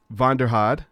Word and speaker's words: Vanderhaad: But today I have with me Ben Vanderhaad. Did I say it right? Yes.